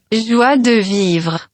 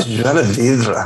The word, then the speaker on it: Joie de Vivre: Joie de Vivre. Oh, Joie de Vivre. That's how poor my pronunciation is.